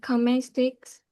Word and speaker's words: cosmetics: The S sound comes first.